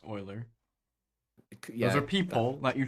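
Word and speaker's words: Euler: of the first question it's not ukian it's O oian so it's oer yeah e u l e r yeah and then I but whatever um famous mathematician and physicist Oiler yeah so question three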